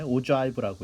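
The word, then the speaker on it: ogive: 일반적으로는 이제 히스토그램은 보통 그룹핑을 한 다음에 이제 바 그래프를 그리는 거니까 그래서 그걸 히스토그램이라고 하고 그다음에 요거는 발음을 좀 조심해야 되는데 오자이브라고 읽습니다.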